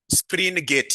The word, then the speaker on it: Springate: Spring gate. Yes. Not spring. Springgate model.